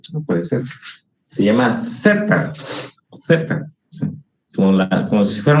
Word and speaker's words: zeta: o a quién se le ha ocurrido llamarle teta. Esa palabra no existe en griego. Es más, si lo pronuncia así como teta, lo que es teta,